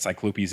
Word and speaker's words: cyclopes: in general and I now have learned that cyclopes is the proper way to pronounce it shout out to the earlier episode